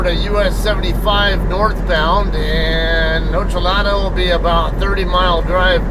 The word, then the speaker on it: Ochelata: Locals tend to call it Ochelata. I'm not going to call it that. You guys know how I am about pronouncing things the proper way. It's just, let it go. I don't believe Ochelata is the proper way to pronounce it. I'm going to pronounce it Ochelata, whether you like it or not.